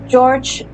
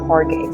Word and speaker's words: Jorge: George Jorge? Jorge. What was that sound? Jorge. Yeah, I believe it pronounces Jorge.